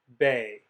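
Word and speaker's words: בֵּי: And, lucky for you, it's pronounced exactly the same as tsere. So you would pronounce the Hebrew on this page as bay, bay.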